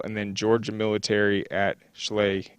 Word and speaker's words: Schley: then Georgia Military at Schley County or some people say sly I think it's spelled like Chalet but maybe I'm getting it wrong but uh I think